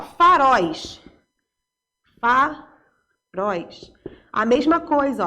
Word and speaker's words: faróis: A mesma coisa, ó, é oxítona, é a última sílaba. Então, vai ser acentuado por quê? Porque terminou em ditongo aberto e é oxítona, tá? A última sílaba é pronunciada com mais força.